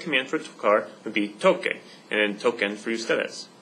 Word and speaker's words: toque: That doesn't work, because if you put it like that, it'd be pronounced tose, and tocar has that k sound in it, so to maintain that sound in tocar, I'm going to change the C to QU.